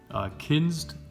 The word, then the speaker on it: Kinzd: a company over here called kins ki NZD I believe it's how you pronounce it they're very nice